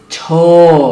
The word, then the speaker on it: 저: Aquí la pronunciación, atención, atención, es cho. Y en Genie Channel eso lo romanizamos con un asterisco y ch, pero es más suave que la ch, cho, es como una j pero en inglés.